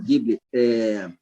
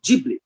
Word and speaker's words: Ghibli: Agora, em relação à pronúncia, na Itália, é com um G, som de G. Ghibli. Quando a gente vê um trailer de um filme do estúdio Ghibli, apresentado pela Disney, que